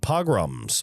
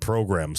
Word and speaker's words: pogroms: I probably said it wrong in the first one. Whatever. Pogroms. I said programs a bunch of times and I explained it weirdly. Pogroms. I'll just say pogroms.